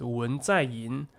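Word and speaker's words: 文在寅: In China, we pronounce his name as Wen Zaiyin, but I don't know how to pronounce it in English.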